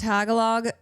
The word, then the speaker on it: Tagalog: It's pronounced tagalog.